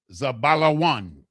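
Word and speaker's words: זבולון: The fifth one, H 2075, is Zeblon. Zeblon with the zah, the ba, the la, the wah, and the na. In the Hebrew, it is properly pronounced zabalawan.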